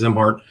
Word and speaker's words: Szimhart: His name is Joe Zimart. His last name is spelled S Z I M H A R T pronounced Zimart.